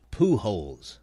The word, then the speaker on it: Pujols: next one is albert pujols now that's the way the man's name is pronounced in spanish it's his last name